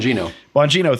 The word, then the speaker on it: Bongino: Dan Bongino, I think I'm pronouncing his name correctly, the radio host. Bongino, thank you.